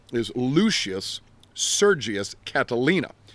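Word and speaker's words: Catilina: name is Lucius sergius Catalina now it's spelled c a t i l i n a not like Catalina Island off the coast of California uh Catalina often we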